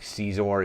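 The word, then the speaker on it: Xizor: They did, I think Caesar is how it's pronounced, the main villain.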